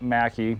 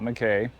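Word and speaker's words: Mackay: out here at the macki Mansion it is it is pronounced Macky not McKay and it was built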